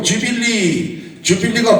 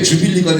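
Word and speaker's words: jubilee: 그런데 영어로 넘으면서 이 U 발음을 J 발음으로 했단 말이에요.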